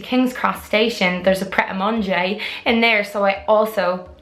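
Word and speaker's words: Prêt-à-Manger: Pret-a-Manger is how I pronounce that, but I always hear all the English people go, Pret-a-Manger, and I think it's so funny.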